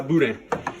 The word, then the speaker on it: boudin: That's where I buy my Boudin. And remember, you don't pronounce that N.